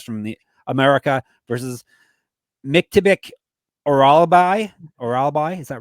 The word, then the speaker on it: Orolbai: Orolbai. Orolbai.